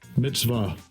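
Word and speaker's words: מצוה: We got strong's 4687, and we're going to listen to how they pronounce it. Strong's H 4687. Mitzvah.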